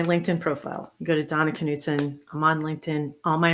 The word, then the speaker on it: Knutson: right date and Donna your last name is Knutson that's how my husband's family says it yes Knutson I have been saying it wrong and I apologize